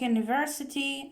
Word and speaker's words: university: And u or eu when they sound like you. They pronounce it you, like university and so on.